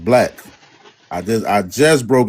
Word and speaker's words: Blac: D Bl B L A C is not pronounced Blake. It's pronounced black.